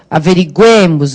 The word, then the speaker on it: averiguemos: Que tu averigues, que ele averigue, que nós, vai lá, que nós, igualzinho ao anterior, averiguemos, vai lá para o E, certo?